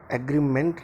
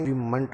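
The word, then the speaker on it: agreement: आप थोड़ा सा ध्यान दीजिए, एग्रीमेंट नहीं है, एग्रीमेंट होता है। ठीक है जी, किसी भी स्पेलिंग के लास्ट में अगर मेंट लिखा हो तो उसे मंट बोला जाएगा।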